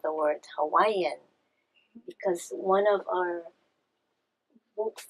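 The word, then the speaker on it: Hawaiʻi: You've heard Hawaii, it has an okina between the two eyes, Hawaii.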